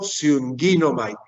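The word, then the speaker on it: συγγίγνομαι: O sea, se sigue pronunciando sunginomai, pero es como por atracción, entonces no coloco la new.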